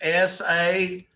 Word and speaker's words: Sassohl: It's SASSOHL. It's pronounced Sasso.